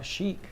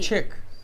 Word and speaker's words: chic: Chic, CHIC, like grandpa chic. Chick. Not chick, chic. How do you spell it? CHIC, grandpa. That's chick. No, chic. Chic.